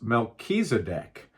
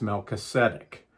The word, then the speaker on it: Melchizedek: The Greek pronunciation is Melchizedek, and the Hebrew pronunciation is Melchizedek.